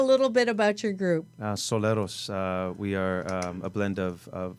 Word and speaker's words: Solaris: he also has his own group now called Solaris. Did I pronounce that properly? Very close. Soleros, but thank you.